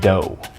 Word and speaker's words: dough: No, that's dough. Dough. Dough? No gh? No gh. Just dough.